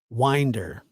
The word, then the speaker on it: Winder: happens let's see Josh by the way it's pronounced Winder but it's spell Winder uh but I know you're from Georgia I believe you are right so I get it Winder Colt's Aunt Annie Brown told the Washington Post